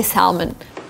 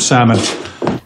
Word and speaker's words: salmon: But if you're in Great Britain, you can say salmon. Timber and salmon. With an L. But in America, you just omit L and say salmon.